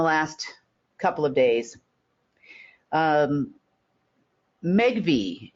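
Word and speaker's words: Megvii: couple of days um megi if you've never heard of megi um it's spelled m GV II they're a large AI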